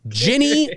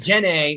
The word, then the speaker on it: Ginny: Ginny with a G. Ginny with a G. That's right. Not Jenny when I over enunciate it and get slapped on the hand. Tony, you're saying it wrong.